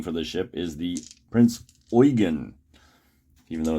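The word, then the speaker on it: Prinz Eugen: pronunciation i'm getting for this ship is the prince oygan even though it's spelled like ujjin okay so let's get into this we have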